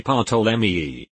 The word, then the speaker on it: Ptolemy: I commented that the P is silent. Because that's the only way I've ever heard it pronounced, British English. As it turns out, you do pronounce the P in Greek.